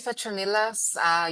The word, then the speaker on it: Petronilla: My name is Petronilla. You pronounce it correctly.